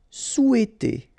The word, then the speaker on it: souhaiter: Souhaiter. Remember, H is not pronounced here, so souhaiter.